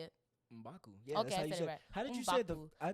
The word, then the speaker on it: M'Baku: Mbaku.